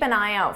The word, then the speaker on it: an eye out: Because native speakers will combine all these sounds together so it sounds like one, an eye out.